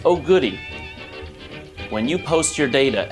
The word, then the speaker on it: OGDY: hashtag OG d y that stands for open game data yes it's pronounced Oh goodie when you post your